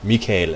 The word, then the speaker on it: Michael: my real name is Michael or Mikel as it's pronounced in D it's fun is one of those names where we have kind of both in English and danish but pronounced differently but you can just